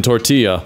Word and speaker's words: tortilla: Taylor Swift makes music for people that pronounce the L's in tortilla.